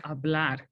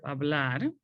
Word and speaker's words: hablar: the answer okay now remember that in spanish the age is silent so you are not